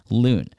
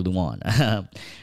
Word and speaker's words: Loon: Online life comes naturally to Loon, who spells his name like the bird because it's the correct pronunciation of his given name, Loon, or Luan, which most Americans butcher along with his last name, Doe.